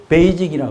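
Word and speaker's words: 北京: 중국 사람이 이걸 어떻게 발음할까? 베이직이라 그래요.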